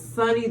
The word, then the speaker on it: Sunni: yourself Miss sun and tell us how to say your name too tell me I'm saying it right talk you're Sunny Sunny the rapper is what I'm known for but yes what's up